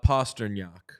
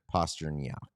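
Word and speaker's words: Pastrňák: I think it's David Postran, right? Oh, uh, it's, uh, Postnak. Postnak.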